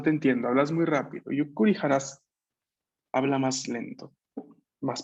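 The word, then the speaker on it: ゆっくり: Claramente el pequeño tsu estando antes de ku nos va a duplicar la k de ese ku.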